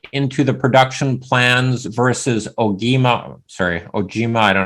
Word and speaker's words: Ogema: climax conventional fit into the production plans versus ogima sorry or Gmail I don't know how to pronounce that following Steve L yeah so we uh we pronounce it ogama that's how we pronounce it internally but uh